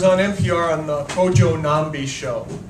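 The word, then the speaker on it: Nnamdi: the Cojo nambi show which is spelled NN a MBI I say that because that's the first word with a silent n in it that I knew that the N was at the beginning so it's like the ninja and and so anyway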